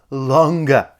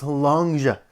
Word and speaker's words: Long Ge: it been now 13 years it's actually just pronounced longa like I have a really good Chinese friend and she was like what the heck are you saying it's not long it's longa so that's where we're at right now it's